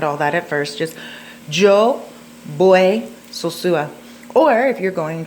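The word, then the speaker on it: voy: You know, Joe Boy, Sosua. Joe Boy. That's pronounced with a V. I mean a B, even though it's spelled with a V.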